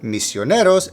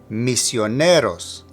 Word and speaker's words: misioneros: And since this is the case, both misioneros and los agree with it in gender and number, as you see with the ending OS. Now, for pronunciation, make sure to emphasize the NE. Misioneros.